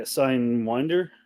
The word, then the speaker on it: Signwinder: Sign like sine wave. Yeah, Signwinder.